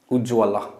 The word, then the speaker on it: उज्ज्वल: ठीक है, उज्ज्वल का उच्चारण इस प्रकार होता है, हर्षऊ जज्व संयुक्त ल विसर्ग, उज्ज्वल।